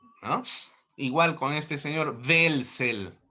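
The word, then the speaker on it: Welzel: Igual con este señor Velsel W e Z e L. No es welsel, sino es Velsel o como Max Weber con W.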